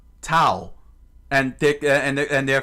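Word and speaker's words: Tau: you know, Tao. T AU. I could pronounce it as Tao. Towel.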